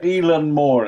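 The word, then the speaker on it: Eilean Mòr: Keepers I would have had it close yeah elen Moore is how it's pronounced in Scotland okay and this is uh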